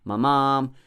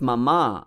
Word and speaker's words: mama: previous line, and then Mamam, Manda Mater Gati. It's not Mama, it's Mama Manda Mater Gati. The first word, Mama, both are short, and both are actually light syllables.